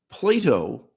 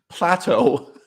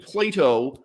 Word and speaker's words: Plato: get people complaining that I pronounce the name Plato like the children's toy Play-Doh but that is the